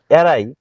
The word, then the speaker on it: awry: একটা করে মনে রাখা অনেক কঠিন যাই হোক এরাই উচ্চারণটা বলে নিচ্ছি এ ডব্লিউ আর ওয়াই এর আই